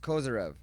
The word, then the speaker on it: Kozyrev: Pronounced Kozyrev.